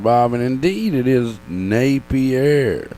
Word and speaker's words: Napier: Bob, and indeed it is Napier. Napier.